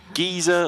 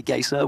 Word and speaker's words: geyser: I actually say geyser, which I know is very wrong. Okay. But that's always how I pronounced it. Okay. Or gazer. To rhyme with like laser?